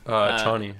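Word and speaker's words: Chani: Yeah, new beginning for Paul with some of the things that he goes through, and then the girl that we meet thematically, Cheyney.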